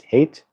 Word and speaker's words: Height: I met someone with the last name height a couple of days ago and pronounce height hate. Hate. There we go. Like that. Oh, hate. Yeah, that's right. That's like hate ashberry.